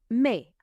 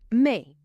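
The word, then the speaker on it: mais: May. It means bought. Me. Now, the word me is spelled M A I S, but you pronounce it as though there isn't an S on the end at all.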